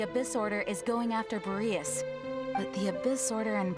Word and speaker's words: Boreas: Rosaria told me that the Abyss Order is going after Boreas. But the Abyss Order and Boreas... What is the connection between them? Boreas, actually, not Boreas.